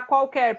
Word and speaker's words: qualquer: Então, a palavra qualquer, pessoal, ó. Qual, ele pronuncia o U. No quer, ele não pronuncia.